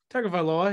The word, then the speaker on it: Tagovailoa: Tagovailoa, yeah.